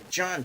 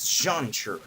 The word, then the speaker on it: Zhan: Zhan. Now, it's pronounced Zhan, as far as I understand.